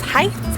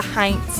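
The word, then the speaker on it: Heintz: the heinz vineyard as heights ignoring the n but in sonoma county it's in fact the heinz vineyard so another winery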